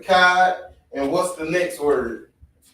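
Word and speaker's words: אחד: So You know the character CHAA, right? Mm-hmm. We don't pronounce it as Chad. That's the English way. Mm-hmm. It's always Ka, CHAA, or Ka, KA. So try to pronounce it one more time. There you go, Akkad. That's how you pronounce it, Akkad.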